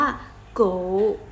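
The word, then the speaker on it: 狗: นี่ คือ สุนัข เสื้อ สุนัข ภาษา จีน ออก เสียง ว่า ยัง ไง เอ่ย ออก เสียง ว่า โก๋ โก๋ ออก เสียง ว่า โก๋ นะ คะ นี่ คือ สุนัข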